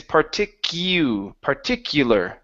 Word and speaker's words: particular: Here, the U, instead of saying particular, it's particular. Particular.